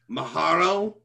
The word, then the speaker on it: Maharal: Maharal? Maharal, uh-huh. How do you spell that?